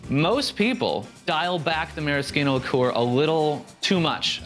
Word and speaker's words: Maraschino: It's spelled the same as the neon cherries for children, but it's by the rules of Italian pronunciation, it's maraschino.